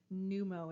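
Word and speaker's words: pneumo: and the O so when we have a p and an N together generally we just start with the N sound so numo is how we're going to pronounce this we're going to move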